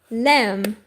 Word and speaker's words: lamb: Lamb. In English, the B is silent. Okay. So, we pronounce lamb.